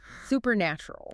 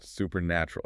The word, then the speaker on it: supernatural: The stress falls on the nat part. Supernatural. Supernatural.